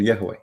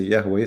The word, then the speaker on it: Yahweh: Like some they say Yahweh, some they say Yahweh, you know. So the Vav can be pronounced as Wah, Yahweh, Yahweh.